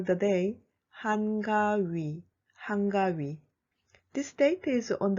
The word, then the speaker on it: 한가위: Personally, I prefer to call the day 한가위, 한가위.